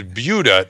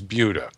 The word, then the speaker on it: Buda: and i said ah i know how that's pronounced it's buda not buddha and then somebody wrote in and said no no no it's buddha well neva who lives there says it's buda and this is because originally your daughter is